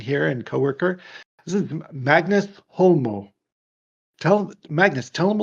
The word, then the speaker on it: Magnus: So yes, I'm Magnus, as the Americans say over here, Magnus, like a sheep, But I'm Magnus. That's how you pronounce it.